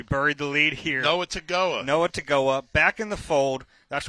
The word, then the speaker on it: Togiai: big fans of Noah Togiai, who we referred to as Noah Togiai because it's a tough name and there's no N in the name and there's an N in the pronunciation.